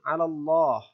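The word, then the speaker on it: الله: dengan love dzul jalalah maka lafzul jalalahnya dibaca tebal Allah cara membacanya dibaca tebal dengan bibir sedikit maju Allah ya Allah lalu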